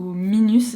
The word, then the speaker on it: Minus: Il s'agit de la marque Minus ou Minus si on le prononce à la française, et c'est une marque